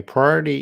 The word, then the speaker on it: priority: at the time my priority in this moment is studying English could you please pronounce pry pry or e t that's actually Four syllables pry or e t priority priority prior priority